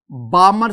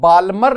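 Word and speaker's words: Balmer: उनमें हमारे पास spectral series एक है Lyman series, the second one इज बामर series. Student, इसमें ना एल साइलेंट है तो बाल्मर नहीं, बामर सीरीज।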